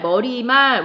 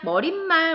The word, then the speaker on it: 머리말: 인사말, 머리말, 우리가 평상시에 잘못 발음해서 인사말, 머릿말 뭐 이렇게 발음하기도 하는데 그 발음이 잘못된 거라고. 인사말과 머리말은 그냥 그대로 된 소리 없이, 그러니까 니은에 덧나는 소리 없이 발음을 하기 때문에 여기